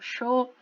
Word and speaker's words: yo: Por exemplo, o som de CH é bastante comum no sul da América do Sul, Uruguai, Argentina, eles falam show, tá?